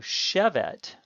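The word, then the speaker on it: שֶׁבֶת: a CC goal and it will be stressed on the first syllable so Chabot is the Cal infinitive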